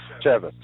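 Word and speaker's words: Chaffetz: committee I'm going to teach you how to pronounce his name yet it's chave Chavez Chavez chavit chavit okay well the uh report goes on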